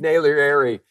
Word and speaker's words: Naglieri: my name properly but I have nailed his name and it's David Naylor Airy and uh we're so